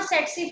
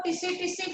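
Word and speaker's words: tsetse: कई लोग इसको टिसी फ्लाई बोलते हैं, लेकिन हमारी टीचर इसको सेट्सी फ्लाई बोलती थी कि टी साइलेंट है, इसलिए मैं भी सेट्सी फ्लाई बोलती हूँ।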